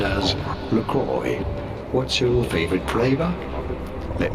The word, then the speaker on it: LaCroix: in the U.S this is said as McCoy LaCroix LaCroix there's no Y in there what do you want about from French but being an American brand it is to be said as Lacroix what's your favorite flavor let me know in